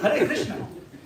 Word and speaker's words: Hare Krishna: No, it's Hare Krishna. Hey mama, mama, mama, hey, hey. No, Hare Rama. Pronounce clearly. Pronunciation is very important.